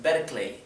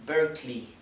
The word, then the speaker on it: Berkeley: Así que no es Berkeley, es Berkeley, ¿sí? Recuerden, en todos estos casos la E no se pronuncia, es muda.